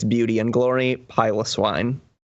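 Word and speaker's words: Piloswine: it's Beauty And Glory pile of swine it's not pronounced pillow swine if you say pillow SW because pyos the prefix pyos indicates hairy so if any of you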